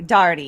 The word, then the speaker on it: Dougherty: in his parents uh daughtery is that how you say his name terence oh dougherty dardy yeah that's right yes he was he